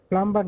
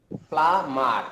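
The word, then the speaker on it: plumber: বুকচার, কসাই, প্লাম্বার না স্যার, প্লামার, এটা সাইলেন্টটাকে উচ্চারণে আসবে না।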